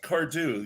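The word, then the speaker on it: Cardhu: Cardew is just Cardew. You don't pronounce the H at all?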